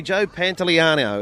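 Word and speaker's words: Pantoliano: Can I pronounce this properly? Joe Pantellano.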